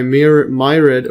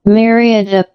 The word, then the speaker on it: myriad: But it is also modulated by mirid or myriad say the pronunciation myriad.